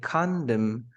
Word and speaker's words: condemn: You say condemn, but you don't say condemn. No, condemn.